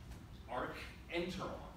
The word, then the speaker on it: archenteron: Well, what happens is the blastula starts to cave inwards, a cavity, and that cavity is called the how do you pronounce CH? Cub. Archenteron.